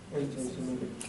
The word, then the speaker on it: anti-Semitic: Anti-Semitic. Anti-Semitic, yeah, that's pronounced anti-Semitic.